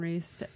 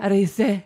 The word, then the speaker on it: Riese: And like you, Grandpa Riese. How do you say your last name? Riese. Riese. Like Porsche.